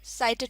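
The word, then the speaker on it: sight: मैं अकेला लफ्ज़ है साइड साइड इसमें घी साइलेंट होता है तो इसको हम साइड पढेंगे मीनिंग सीन और विसबल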